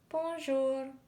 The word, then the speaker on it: bonjour: it like this Bell Bonjour means hello in French you say it like this Bonjour gorgeous means beautiful perplexed